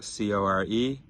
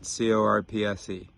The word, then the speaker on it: corps: I write on a piece of paper, CORPS is pronounced CORE, not CORPSE.